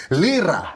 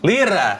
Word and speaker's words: Lyra: Lyra. Lyra.